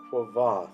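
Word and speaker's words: Kvothe: pronounce it Quoth or Quoth. It says in the book that you're supposed to pronounce his name like the word Quoth, but with a V in it.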